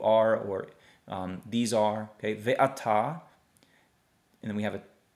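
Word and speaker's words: וְאַתָּה: so ve, ah, ta, and the hey does not have any sound. So the hey is just going to be just a silent letter, okay? Just let it hang. So ve'ata, ve'ata, and these are is what that's saying, ata.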